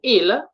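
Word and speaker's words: ils: Then the third person plural of il, you see, il, we say il, S is silent, so they.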